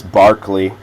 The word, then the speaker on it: Berkeley: His name's Barkley. Uh a little bit different way that we we pronounce that that name.